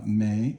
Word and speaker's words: 没: So may, second tone, not.